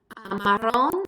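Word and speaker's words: marrón: Marron is brown. When you make marron plural, you drop the accent from the O because adding that an additional syllable moves the natural stress to the O so we don't have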